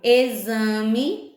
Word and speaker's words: exame: Por exemplo, exame, a gente escreve com X, mas esse X tem um som de Z, né?